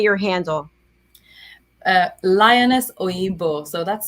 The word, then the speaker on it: Lioness Oyinbo: Lioness Oyinbo. So that's spelled LIONESSOYINBO.